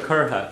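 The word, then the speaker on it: curtha: Actually, I didn't correct you on the word kurha. Kurha, the standard way to say it. Curry is what you're going to hear actually in the West particularly, but they tend to pronounce the THA differently.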